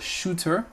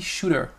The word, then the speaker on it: shooter: « the shooter », elle prononce le T puisque le T est logé vraiment entre deux voyelles, en fait, elle le prononce comme un D, d'accord? Il vient se faire squeezer, ce pauvre petit T là, et au lieu de dire shooter, elle dit shooter, shooter.